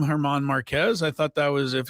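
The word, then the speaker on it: Germán Márquez: Yeah, I went with the Drew Goodman pronunciation as a Rockies broadcaster. He said Marquez. I always call him Herman Marquez.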